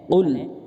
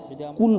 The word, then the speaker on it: قل: সূরা কাফিরুন বিসমিল্লাহির রহমানির রহিম কুল ইয়া আইয়ুহাল কাফিরুন এখানে কুল কফ উচ্চারণ করতে হবে। যদি আমরা কুল বলি তাহলে ভুল হবে এবং অর্থ পরিবর্তন হয়ে যাবে।